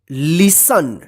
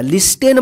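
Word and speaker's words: listen: टी ई एन लिसन देखिए य पे टी जो है ना साइलेंट रहेगा लिस्टन मत पढ़िए इसको ठीक है ना या लिस्टन मत पढ़िए क्या पढ़ेंगे इसको लिसन लिसन का मतलब होता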